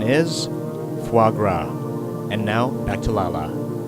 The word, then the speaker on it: foie gras: of the day how do you pronounce oh foie gras the correct pronunciation is foie gras and now back to Lala after trying various